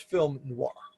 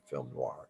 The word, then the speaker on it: film noir: off the genre was film noir a film noir and oh I R but is pronounced as if there's a w and again it comes